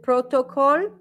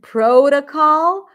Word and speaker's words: protocol: Is it protocol? If yes, then something needs to change. What's the primary stress? First syllable. Is it this, this, or this? Let's change the color for fun. Now we're going to write with blue. First, Sharka, pro. You're right. That's the primary stress.